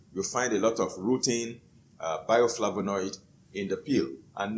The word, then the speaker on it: rutin: It is spelled R-U-T-I-N, rutin.